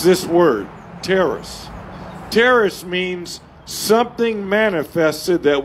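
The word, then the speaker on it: τέρας: word is t-e-r-a-s and it's pronounced terrace everybody say terrorists terrorists is translated wonders so every when you see the word wonders in the new testament it's this word terrace terrace means something manifested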